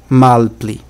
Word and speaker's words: malpli: A pronúncia certa é malpli. Há muitos esperantistas que pronunciam malpli, mas isso é influência de idiomas nacionais. Influência do português ou influência do francês é influência de outros idiomas. A pronúncia padronizada em Esperanto é malpli e não malpli.